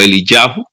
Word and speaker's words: Eliyahu: Y bueno, ahí en hebreo sería algo así, la pronunciación o la escritura del nombre como Eliyahu.